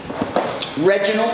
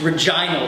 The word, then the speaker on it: Regina: Halen Reginald am i pronouncing your name correctly it's Regina actually Regina you threw me for